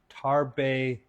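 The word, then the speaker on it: Tarbais: hand and said uh they're pronounced tarbet beans tarb tarb tarb thank you thank you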